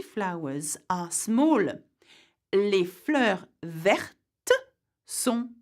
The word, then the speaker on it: verte: Also, not only the spelling changes, the pronunciation does too. Okay, so for example, you would say petit, petite, vert, verte.